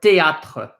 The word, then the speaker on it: théâtre: Remember, the E at the end of the word is silent. When we have E's at the end of the word, we don't pronounce them, right? So this is pronounced, a little bit closer.